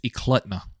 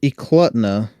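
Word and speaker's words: Eklutna: l u TNA uh I looked up the pronunciation it's euta euta yep perfect thank you so they were in euta hunting along the kinck River so this is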